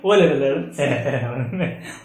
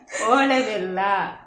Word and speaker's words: ಓಲೆ ಬೆಲ್ಲ: ಓಲೆ ಬೆಲ್ಲ, ಓಲೆ ಬೆಲ್ಲ, ಓಲೆ ಬೆಲ್ಲ, ಓಳೆ ಬೆಲ್ಲ, ಲೇ ಅಲ್ಲ, ಓಲೆ.